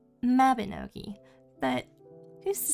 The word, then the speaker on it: Mabinogi: or a little game I like to call Mavenogi or what the normal people call Mabinoi.